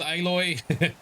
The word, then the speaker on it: Aloy: the action is Hefty so aloy equals aloy silence equals silence that's the correct pronunciation okay let's save the